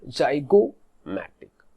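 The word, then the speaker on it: zygomatic: क्योंकि ये दो बोन को जब आप प्रोनाउंस करोगे तो जो स्ट्रेस होता है that is ऑन O, जाइगोमैटिक, vomer.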